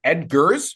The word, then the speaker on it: Eggers: Is it Edgars or Eggers. how do you say EGG. it? Is Edgars? Eggers. Okay, yeah, It's Eggers.